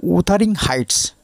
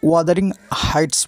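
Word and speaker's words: Wuthering Heights: Nobel তাহলে কেবলমাত্র একটি উপন্যাসের জন্য উদারিং হাইটস কেউ ওয়াদারিং হাইটস বলেন উচ্চারণ করেন যাই হোক তার বিখ্যাত তার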